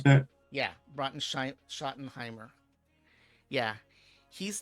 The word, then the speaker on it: Schottenheimer: pronounce that. Yeah, Schottenheimer.